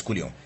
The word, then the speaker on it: coulomb: Actually, I'm pronouncing it as coulomb because that's the real pronunciation here. It's not coulomb as people say. It's coulomb.